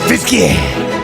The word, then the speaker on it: Fiske: Brian fisky that's right I pronounce the e in Fisk braen fisy it's fisky my boy I love